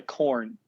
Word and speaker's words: Korn: It's the Corn. It's spelled Korn. It's got like the font for Corn, and all that.